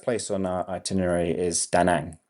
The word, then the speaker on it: Da Nang: Okay, so the first place on our itinerary is Da Nang, or in Vietnamese it would be pronounced more like Da Nang.